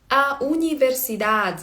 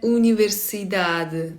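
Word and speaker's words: universidade: Е, це не звук а зовсі, ну, не а і не е. Це щось між ноше до е схоже. A універсиad. A універсидат. Бо, до речі, різниця між бразильською і європейською звучанні також в бразильців більш відкриті звуки. А універсіда, да? А в них, а в португальців такий більш и е універсидад. Не відкривається рот повністю.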